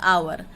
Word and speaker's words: hour: Similarly, the consonant H is silent in the word hour, which is pronounced just like O-U-R, hour.